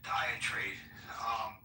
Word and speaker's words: diatribe: And by the way, the more I think about Genesis diatribe, how do I pronounce that?